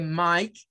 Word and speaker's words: Mike: que ocurre por ejemplo en Mike aquí no se nos indica pero Nosotros sabemos que Mike Es de las reglas en donde la e no suena y esta la y